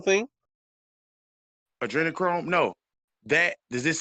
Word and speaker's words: adrenochrome: Look up All right, adrenochrome. Look up adrenochrome. Look up adrenochrome. Spell that for me. a adrena. It's ADRENA Chrome. Like Chromebook, Google Chrome, but Hmm.